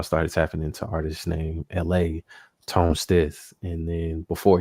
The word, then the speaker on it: ELHAE: LA is spelled ELHAE, and he's like cool.